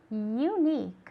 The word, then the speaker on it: unique: one unique okay great unique okay it's a long u sound unique all right um to